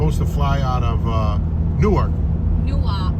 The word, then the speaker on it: Newark: fly out of Newark, Newark.